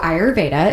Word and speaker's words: Ayurveda: So Ayurveda is the proper way to pronounce it.